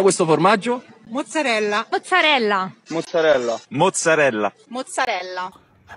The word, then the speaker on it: mozzarella: Next time you want to say it, it's mozzarella, all right? Not mozzarella. I'm not sure about that. Let's ask to a few Italians. Come si pronuncia questo formaggio? Mozzarella.